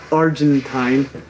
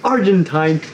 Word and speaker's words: Argentine: late Gus Gus here now I am aware that my pronunciation of the word Argentine just triggered a few people we have received honestly a ton of comments about how annoying it is that I say Argentine instead of Argentine some people have even